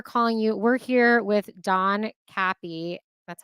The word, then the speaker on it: Don Capi: so we are calling you we're here with Don Kappy that's how you pronounce it right yes okay just double checking